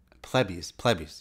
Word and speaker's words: Plebis: When I made the podcast, I was trying to figure out how to pronounce Plebis. Plebis. Yeah, I gotta keep remembering. That's how I say it.